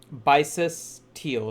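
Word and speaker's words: Bysaes Tyl: Bisis Teal. So Bysaes and then Tyl.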